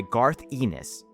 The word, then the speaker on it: Garth Ennis: The Boys is an adaptation of the comic book of the same name by Garth Ennis. Yes, that's how you pronounce his name, don't look it up.